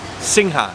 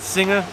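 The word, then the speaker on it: Singha: we are drinking sick how do you pronounce this thing huh Singh huh by the way best beer in Thailand without a doubt I pronounced it singer but it's not right apparently I don't know it's right I just pronounced the same kind I just feel like saying sing huh like that it's cool we're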